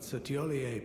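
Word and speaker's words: Thiollier: serves another Master but cier performed magnificently perhaps he too Quivers with anticipation sir is the proper pronunciation yeah okay theier was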